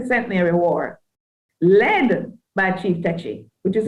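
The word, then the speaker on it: Tacky: And so I want to say the 1760 Centenary War, led by Chief Techi, which is how it's pronounced, and the 1831-32 Emancipation War, led by Sam Sharp.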